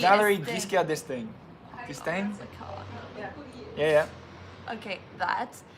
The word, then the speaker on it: Giscard d'Estaing: Thank you for that pronunciation guide, Jackie. Yeah, that was Giscard d'Estaing.